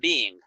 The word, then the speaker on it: being: Now, what is the difference in pronunciation between been and being? Okay, been in the past participle, like this, been is just one syllable. Yeah, been, just like one sound, been. If you are saying being, you have 1, 2 syllables.